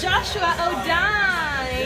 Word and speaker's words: Jo'shua: And this is your crazy speaker in Irika here with Joshua Odine. It's actually pronounced Joshua. Joshua Odine.